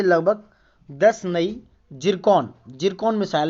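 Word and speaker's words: Zircon: से लगभग 10 नई जिरकॉन मिसाइल है, यानी कि सिरकॉन मिसाइल भी बोल सकते हो, क्योंकि इंग्लिश में इसका प्रोनाउंसिएशन सिरकॉन ही है, बट ये जिरकॉन मिसाइलों का परीक्षण किया दोस्तों।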